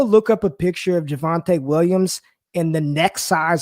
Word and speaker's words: Javonte: is that correct yeah javonte williams okay it looked like devante but with a j so javon traditional you